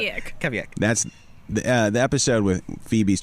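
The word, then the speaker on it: Kveik: But it's Kavik. Kavik.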